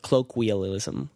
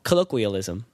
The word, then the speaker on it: colloquialism: like a colloquialism I how do you say that word kalokhe colloquial colloquially uh no we we get it cloak wheel ism colloquial that doesn't sound right at all colloquialism there it is isolate that and replay